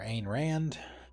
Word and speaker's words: Ayn Rand: We saw one for Ayn Rand. That's how that's pronounced.